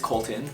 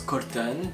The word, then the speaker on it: Colton: not being French and because my name's Colton so obviously it's not a French name but when I introduce myself I say my name is Curtin because I don't want to just interrupt my smooth French sentence with like an English accent you know Davina not